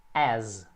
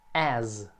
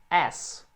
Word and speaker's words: as: Mas vamos aqui, a preposição é as. As. Outra dica de gramática que eu quero passar é a pronúncia dessa palavra, que, apesar de ser um S, ele tem um som de Z no final.